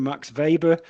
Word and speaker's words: Weber: to it by uh Max Vber or as we used to say when I was studying Weber so I have to pull up my uh student sometimes and call him by the German pronunciation Max Vber and Max Vber expands